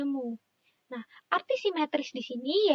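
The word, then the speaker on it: μ: Ini dibacanya mu.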